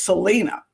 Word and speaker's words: Selena: and he said, so your name is Selena, or is it Selena? And she looked at him, laughed, and she goes, Selena. So Selena pronounces her name the American way, not the Mexican Spanish way.